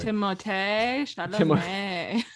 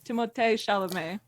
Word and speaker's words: Timothée Chalamet: Timothée Chalamet. Mine and Sammy's love interests are that is how in it's pronounced. Timothée Chalamet.